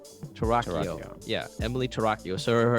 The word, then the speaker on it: Torockio: Torockio.